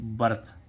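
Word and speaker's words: birth: पढ़ेंगे वर्थ वर्थ है ना क्या प े बर्थ ठीक है ऐसे ही इसमें एस एच आई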